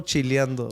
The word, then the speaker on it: chileando: You got to say it like the way everything's ando, bro. Chileando way. Yeah, chilando, it's not even a real word, but I'm chileando is how you would say it.